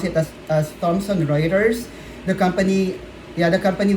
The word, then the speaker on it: Thomson Reuters: So we pronounce it as Thomson Reuters.